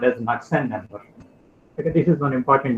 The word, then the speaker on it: Knudsen: So just for example, we define what is called as Knudsen number. Okay, this is one important number. The K is silent. It's called as Knudsen number.